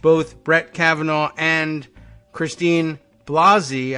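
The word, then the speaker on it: Blasey: Brett Kavanaugh and Christine Blasi I understand the pronunciation is Blasi Ford will appear I don't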